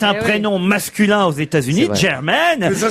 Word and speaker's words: Jermaine: y a que les ploucs qui prononcent Germain. Eh ben ça y est, c'est Janet Jackson et Germaine Dupré.